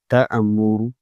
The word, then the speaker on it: تَأْمُرُونِّي: تا حمزہ زبر تا، میم پیش مو، تا مو، را واو نون مد پیش رو، تأمر، نون یا مد زیر نی، تأمرونی، قل أفغير الله تأمروني۔ کس طریقے سے پڑھا جائے گا اسے؟